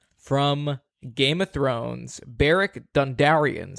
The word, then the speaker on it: Dondarrion: Okay, the Lightbringer from Game of Thrones, Beric Dondarrion. How do you say his name? Is that right? I feel like Dondarrion. You got it right. Dondarrion.